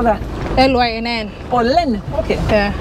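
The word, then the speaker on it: Lynn: Lane. Lane. How do you spell that? L-Y-N-N. Oh, Len. Okay. Yeah. It's your pronunciation. I thought it was L-E-I-N or something like that.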